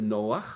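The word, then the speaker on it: נח: Vous savez que Noé, c'est Noach, avec un chet à la fin.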